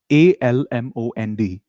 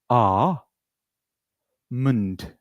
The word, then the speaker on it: almond: The pronunciation of this word is a mund. One more time. Repeat after me. Amund. L is silent.